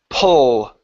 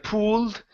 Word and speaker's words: pull: instead of food okay open the mouth for that you it's pull pull pull pull good job good job so they pulled out their tickets they pulled out their tickets okay instead of pooled pull oh they pulled out